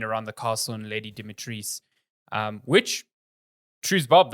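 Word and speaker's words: Dimitrescu: the castle and Lady Dimitris, which, truth Bob, that's how you say her name. That's how they say it in the game.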